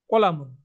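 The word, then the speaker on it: قلم: তো আমরা এটা ব্যবহার করি যে কলম, তো কলম কিন্তু আরবি শব্দ, কিন্তু কলম বলতে বলতে লতেও কিন্তু আমরা অকার করে ফেলছি, কিন্তু আরবিটা কিন্তু কলামুন, কলামুন, হাদা কলামুন, হাদা কলামুন।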